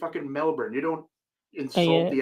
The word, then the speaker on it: Melbourne: It's not a hard R, it's a soft R.